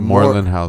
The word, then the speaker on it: Moreland House: There's one other thing I was gonna ask you is how you ended up at the Moreland House. Is that how you pronounce it? Oh yeah. The Moreland House.